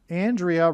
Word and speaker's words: Andrea: Andrea rhymes with Aliyah.